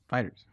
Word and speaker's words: FighterZ: Fighters.